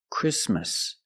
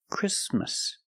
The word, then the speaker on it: Christmas: we don't say Christmas the t is between consonants so it is silent link the sound s with the m Chris Christmas Christmas and it's not only